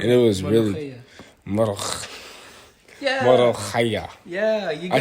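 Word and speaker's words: molokhia: Morokhaya.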